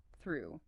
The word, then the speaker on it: through: Oh, this is a really tricky one for many learners because you have that voiceless the sound tongue out between teeth with airflow immediately followed by the American R. It often sounds exactly like the past tense of throw. T H R E W as in I threw the ball.